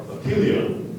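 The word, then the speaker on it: epyllion: The two pronunciations are apelion and apelion.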